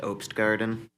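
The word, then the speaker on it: Opsgarten: your last name um that's pronounced opst Garden okay please proceed right good evening uh my name is Ops Garten for the record and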